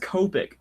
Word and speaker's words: Copic: I do Copic markers Copic it is pronounced Copic Copic my dad works in